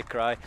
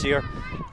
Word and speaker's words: Sear: Sorry, I always say Cry because that's how it's spelled, but it's pronounced Sear.